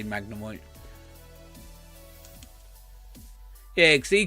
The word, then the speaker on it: Magnemite: card I was like oh Magnemite magni me Tay magnumite yeah yeah I think that's what you said yeah Magnemite that's too funny yeah